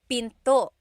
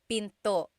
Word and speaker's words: pinto: Door in Tagalog is pinto. Pinto. And remember, don't forget the glottle stop. Don't forget to stop the sound at the end. That's called a glottle stop.